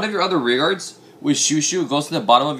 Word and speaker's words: Chouchou: to that couch ow it's a shoe shoe like a shoe or Shushi know what